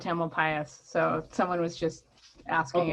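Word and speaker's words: Tamalpais: how it's time alpine the most common pronunciation in miranda is mount tamil pius so someone was just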